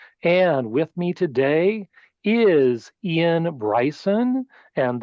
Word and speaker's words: Iain: with me today is Ian Bryson and that's the Scottish spelling spelled i a i n but still pronounced I